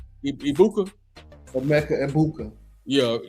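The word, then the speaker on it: Egbuka: Emeka Ibuka. Yeah, the G is silent. Okay, Ibuka.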